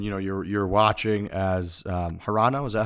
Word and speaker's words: Hirano: You got silver, and you know you're watching as Hirano. Is that how you say it? Hirano.